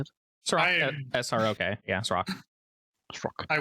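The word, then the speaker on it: Srok: How do you pronounce it? Srock.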